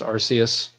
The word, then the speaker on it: Arceus: world oh Arceus okay Arceus or Arceus it's pronounced Arceus so Archie you know it's a little it's